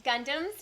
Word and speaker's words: Gundam: Gundams. Gundams.